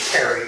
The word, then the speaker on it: Pare: My last name is Pare, P-A-R-E, although I just say Perry because that doesn't sound so Frenchy.